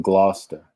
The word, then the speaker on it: Gloucester: The following article was written by the late Mary Ellen Leona of Gloucester. I know nobody here, if you're not from Massachusetts, you would never pronounce this correctly, but it's Gloucester.